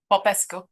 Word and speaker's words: Popescu: And I am blessed today to have a special guest, Popescu, or Popescu. Is it you? Tell me how to say it, the last part. Popescu.